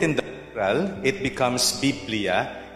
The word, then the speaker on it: biblia: a short break it's biblia well will we say it again biblia okay so the way to pronounce the greek is to pronounce every syllable okay so um it's not actually bibliophonia but biblia it's a